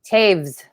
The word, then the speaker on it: Toews: pronounce your last name caves caves okay caves yeah the w sounds like a V so like it rhymes with saves oh okay I know